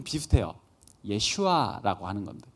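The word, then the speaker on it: ישוע: 예슈아라고 하는 겁니다. 예수, 예슈아. 이거 짧게 이야기하면 예슈아고요. 이걸 좀 길게 발음을 하면 여호수아가 되는 겁니다. 여호수아라는 사람의 이름에 대해서는 여러분들이 들어보신 적이 있죠.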